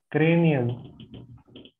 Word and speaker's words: cranial: I was just wanting to ask about, is it cranial and caudal? Is that how you say it? Is that also terms that we would use in yoga anatomy? Cranial. Caudal, yes.